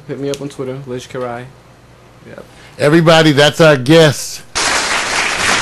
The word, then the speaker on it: Lij Kerai: It's spelled L-I-J as in Jonathan. Let's get it right. Not a G. That'd be Lig. Anyway, L-I-J like Jesus. Capital K-E-R-A-I. Lijs Kerai.